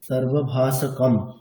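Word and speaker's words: সর্বভাষকম্: আচ্ছা, অনুসারের জায়গায় সর্বদা মকার উচ্চারণ করবেন, মানে সর্বভাষকং এরকম না, সর্বভাষকম, এটা প্রথমেই বলা হয়েছিল ক্লাস শুরুর দিকে।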